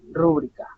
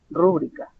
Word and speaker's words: rúbrica: y en este caso la palabra es rúbrica es grave es una palabra grave la cual lleva su mayor fuerza de voz la antepenúltima rúbrica rúbrica no rúbrica entonces este es una